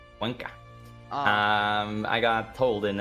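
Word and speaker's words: Cuenca: But because Quenza not falling, they are so comfortable sitting here. Yeah. Yeah. France brought back the volunteers from Quensa. And I know actually it's Quanka. Quanka.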